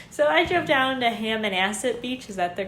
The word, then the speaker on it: Hammonasset: So I drove down to Hammonasset Beach.